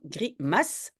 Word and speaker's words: grimace: Oui, c'est parce qu'il y a un E qui suit, donc grimace.